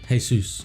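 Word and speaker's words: Jesús: because it's written weird it's spelt Jesus but it's got the apostrophe above that you hey soos so it is hey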